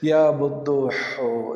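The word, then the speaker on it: بدوح: خیال رکھیے تلفظ کا، بے کے اوپر پیش ہے، دال کے اوپر شد و پیش ہے، اور ہے کے اوپر یعنی ہا کے اوپر پیش ہے، یا بدو ہو یا بدو ہو یا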